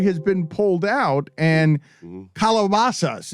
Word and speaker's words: calabazas: This is the second time that this story has been pulled out, and calabazas is how it's pronounced. You've been pronouncing it wrong all your life when you Americanize it.